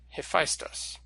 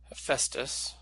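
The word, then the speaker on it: Hephaistos: another Greek god and now you may have seen this name spelled like this and pronounced a festive and that's because this is the way that the Romans transliterated it into Latin and the name have Festus comes to English through Latin they had slightly different rules for transliterated and Greek than we do okay now I think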